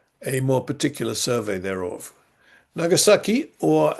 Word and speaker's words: Nagasaki: Nagasaki or as it is sometimes pronounced though not written Nangasaki is divided into two parts.